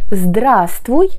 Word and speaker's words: здравствуй: Pensez ici que le premier V ne se prononce pas.